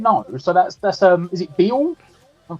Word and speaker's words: Beale: So that's is it Beale? Am I pronouncing that right? Yeah, Beale.